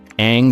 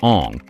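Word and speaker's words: Aang: Shyamalan, for reasons no one understands, insisted on changing the pronunciation of major characters names. Ang became Ang, Saka became Saka, and Avatar was pronounced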